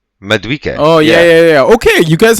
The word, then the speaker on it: Madueke: And then the other one is the Chelsea, Mendique. Is that how you say his name? Who? Mendique? Who are we talking about? Right? On Chelsea? The winger? Madueke.